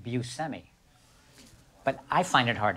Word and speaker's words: Buscemi: the correct pronunciation if you were in sicily would be bushing but then so you know people say bushemi which is which is nice i i just grew up saying actually i grew up